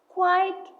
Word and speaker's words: quiet: Remember, pair number 12 is quiet versus quiet, which looks so similar but sounds different. Quiet means making little noise. It has two syllables, like please be quiet.